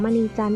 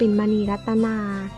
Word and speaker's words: มณีจันทร์: ให้ ความ เห็น ว่า ชว ชาติ ออก เสียง ผิด ที่ ออก เสียง มณีจันทร์ เป็น มณีรัตนา แต่ อย่าง ไร ก็